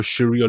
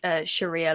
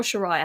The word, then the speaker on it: Sharia: on the streets of Britain that believe in Sharia law is it called Sharia or sharah how do you pronounce it Sharia and you know I saw